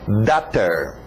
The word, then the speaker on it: daughter: Alright, lembra da pronúncia de water? Então só muda o W para um D. Daughter.